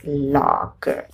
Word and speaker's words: loch: Loch, a Scottish word, sometimes also a medical term, is heard as lock.